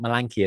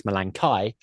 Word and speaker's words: Malankai: He decided completely out of the blue that the pronunciation of the species name was not Malanki as it always used to be. It's Malankai. And that they're an aquatic